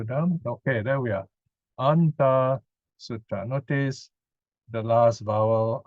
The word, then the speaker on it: Antā Sutta: So this is the long vowel, 2 counts. This is 1 count, right? Antā Sutta.